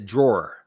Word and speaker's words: drawer: But you say it like with an A on the end. You don't say it with the ER in the end.